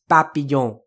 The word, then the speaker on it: papillon: And of course the PA is pa, just a pa sound, similar to what it sounds like in Japanese. So it's papillon. And keep in mind, another thing about French pronunciation is that, like Japanese, none of the syllables will get extra levels of stress. No syllable is stressed.